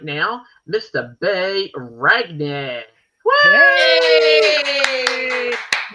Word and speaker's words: Ragni: was told many times Ragni is the correct way to say it in Italian. Ragni. In Italian, anytime you see a G and an N and an I, it has an onion sound. Yeah, onion. So Ragni.